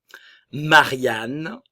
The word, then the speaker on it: Marianne: Jeanne, Louise, le O et le U, le son OU, le E final ne se prononce pas. Marianne, le E final ne se prononce pas.